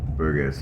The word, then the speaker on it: Burgess: Burgers family but yeah Burgers yes Banks I pronounce it is BU r g e s s but anyways New Haven